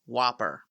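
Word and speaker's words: WOPR: plan response computer also known as W pronounced Whopper it spends all of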